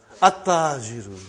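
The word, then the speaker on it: التاجر: At-tajiru. You did not pronounce al. You did not pronounce lam. Okay, you did not pronounce. You skipped it.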